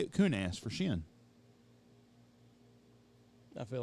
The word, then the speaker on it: Chêne: time it's jeff jones shin gear waiter and shin is spelled c-h-e-n-e yes sir shin gear